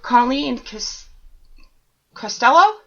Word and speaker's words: Colleen Costello: But tonight we have Colleen Costello?